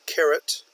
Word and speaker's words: carat: here again we have carat the measure of a diamonds size that is pronounced exactly like the carrots the vegetable that you are familiar with carrots and carrots are